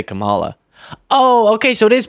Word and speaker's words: Kamala: it's not Cala it's not camela it's Kamala KLA Harris kamla is for our schools kamla is for affordable child care that's KLA KLA Harris I understand adorable by